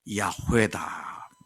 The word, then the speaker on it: 야훼: 그러니까 하나님께서 야훼다, 우리말로는 이제 여호와다 그렇게 번역되어 있습니다만은 원문의 의미는 그 발음은 야훼입니다.